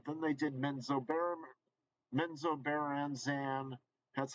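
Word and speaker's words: Menzoberranzan: ravenloth game but then they did men's Obama menzobaranzan that's how you pronounce it and uh then they did Dark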